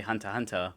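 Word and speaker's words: Hunter × Hunter: Much like uh Hunter Hunter, even though it's written with an X in the middle, you're just supposed to say Hunter Hunter.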